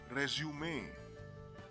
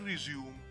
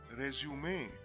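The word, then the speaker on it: résumé: is correctly pronounced as resume not resume or resume but resume in fact this word has been adopted from the french language and is actually spelled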